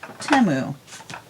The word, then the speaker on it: Temu: But I watched the Super Bowl and I saw the commercial, and on the commercial they pronounced it Temu. Almost like Shamu the whale.